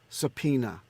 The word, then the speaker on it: subpoena: perform it's killing me say it with me subpoena I knew it was giving you wow it rhymes with your penis okay subpoena please note that